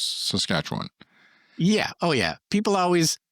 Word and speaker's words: Saskatchewan: But for future reference, it's emphasis on the second syllable, and you just let everything else just go. Saskatchewan. You just let everything else go.